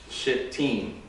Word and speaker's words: Shittim: If you actually say this the way it's pronounced in Hebrew, since you've got the two T's together, they're pronounced separately. So it's Shittim, but I have a hard time saying that. So I'm just going to say Shittim, which is slightly better.